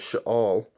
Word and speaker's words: Sheol: Which how you really pronounce it, Sheol.